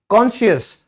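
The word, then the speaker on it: conscious: कॉन्शियस, तो कॉन्शियस में भी आपने कॉन्शियस नहीं बोला, ठीक है, क्योंकि सी साइलेंट है।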